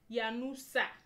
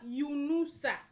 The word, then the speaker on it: Yunusa: My second name is not Yanusa. It's Yunusa.